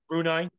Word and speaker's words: Brunei: Brunei okay I'm sorry how you say it Brunei okay after a failed coup I don't think